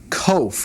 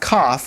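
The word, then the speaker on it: קוף: COFE, not cough. Remember, that's the the letter that looks like a backward C.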